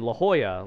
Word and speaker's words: La Jolla: La Jolla being like this. La Jolla is kind of like the Beverly Hills of San Diego, where it's like, it's spelled like this, like J O L L A.